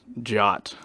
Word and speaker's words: JWT: to pronounce these things JWT is jot I'm guessing someone is inserting the the a from Jason even though there's no a in it and doing J awt or something like that I